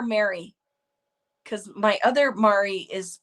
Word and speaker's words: Mari: Congratulations, Mari. Is it Mari or Mary?